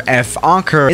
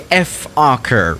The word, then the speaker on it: Fokker: of this aircraft manufacturer, Fokker, is actually not pronounced Fokker, but you know, the actual pronunciation of this aircraft manufacturer sounds very similar to another English word that starts with F and ends with R, and we're not gonna